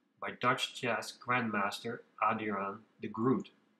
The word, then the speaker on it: de Groot: Dutch chess grandmaster Adira de groot or as it is pronounced in Dutch the hold the group mentioned in